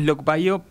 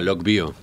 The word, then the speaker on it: LoCBio: así se pronuncia también Bueno en realidad le hicimos lo Bio por el inglés que es logic Circuit for biology pero acá será lock Bio ent nosotros será ser